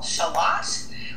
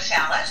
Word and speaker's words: shallot: Then you also want to use a half of a small shallot, or as my American friends call it, shallot. We have different pronunciations here.